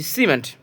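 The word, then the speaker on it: cement: পরেরটা দেখুন সিই এম ই এন টি, সিমেন্ট, এখানে সির পর ই আছে, এই জন্য আমরা দন্তস্ব উচ্চারণ করবো, সিমেন্ট।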